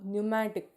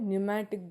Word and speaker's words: pneumatic: So these are the example for pneumatic. P is silent there. They are called pneumatic bone.